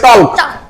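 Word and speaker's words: talk: এই যে এটা পাচ্ছি আমরা, মাঝে মাঝে আমরা পাচ্ছি, আমরা যদি একে উচ্চারণ করি TAL কে তাহলে উচ্চারণ হবে টক। কি হয়ে যাবে? কিন্তু আমরা উচ্চারণ করবো টক।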